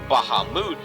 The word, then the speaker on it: Bahamut: I like to be honest with you, I have never even played Final Fantasy, but seriously, Bahamut, more properly pronounced as Bahamut, is one of the most badass dragons I have ever seen.